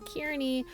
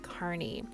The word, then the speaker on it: Kearney: If you're not from Nebraska, you might think it's pronounced Kearney, but it's Kearney.